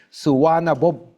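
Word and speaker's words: Suvarnabhumi: Suana bumi. Suana means gold. Bumi means land. Thai. Thai will not pronounce a me. They will say suana boom. Suana boom.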